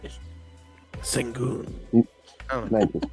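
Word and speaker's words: Şengün: Sengun. Thank you. How do I say it? Double. Well, yeah, something like that. No, Yeah. you like Sengun.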